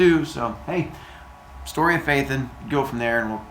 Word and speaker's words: Phaethon: Phaethon, but it's pronounced Phaethon, like F-A-Y, and then T-H-I-N.